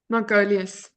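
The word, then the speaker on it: Margoluis: As Nick has uh Nick and Richard, I never know how to pronounce his last name. Is it Margulus? Margolus.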